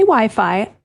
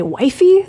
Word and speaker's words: Wi-Fi: Here we say Wi-Fi. In some places they say wifey, they say we unfortunately can't take anyone saying we seriously, so let's stick with Wi-Fi.